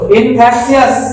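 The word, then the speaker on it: infectious: तो बोलो इन्फेक्शियस। देखो यहाँ पर TIOUS को TS में पढ़ेंगे, सियस है ना, यानी इन्फेक्शियस, TS में पढ़ेंगे इन्फेक्शियस।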